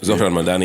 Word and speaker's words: Zohran Mamdani: I don't know how to pronounce Matt it. I'm Hammond. gonna butcher Yeah, it. Zohran Mamdani.